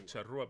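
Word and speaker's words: Charrúa: I can comprehend the charrua because that is how you say that the Indians there were charrua. That's how they say it.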